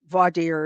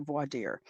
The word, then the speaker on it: voir dire: Voir dire is they pronounce it 100 different ways. I I learned to pronounce it voir dire. Um some say voir dire, especially in the South.